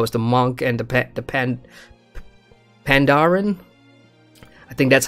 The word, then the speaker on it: Pandaren: any Chinese in chat, Ren in Chinese means people. So the way I would pronounce it is Panda Ren. I don't know how you guys pronounce it. Pandaran.